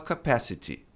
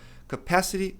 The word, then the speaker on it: capacity: Então, T, numa sílaba átona ladeado por vogais, ele vai ter esse som de re capacity. Tá difícil falar, você pode falar capacity porque é só uma questão de sotaque, não tá errado, tá?